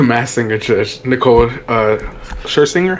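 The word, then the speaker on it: Scherzinger: something with the mass singer judge Nicole uh Shinger, how do you say that?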